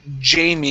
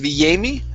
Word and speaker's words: Jamie: Next, we go to, let's see here, the word Jamie instead of Yami. Okay, give me a J sound here.